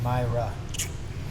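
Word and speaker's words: Mayra: with long hair Maria Myra oh you might be right I could be butchering that Mera m a y r a Myra guys learn how to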